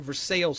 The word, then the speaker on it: Versailles: man from Versailles, Kentucky, not Versailles people, I'm from Versailles, Kentucky. Let's get that out in the open. I don't know why people think it's Versailles. It's spelled the same, but I'm kidding.